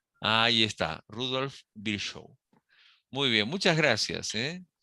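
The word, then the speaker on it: Rudolf Virchow: que me digas más o menos Cómo se pronuncia s rudolf bsh Ahí está rudolf bsh muy bien muchas gracias eh Me acordé que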